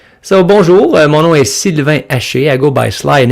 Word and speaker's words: Sylvain Haché: So, bonjour, mon nom est Sylvain Haché. I go by Sly in English because it's easier to pronounce.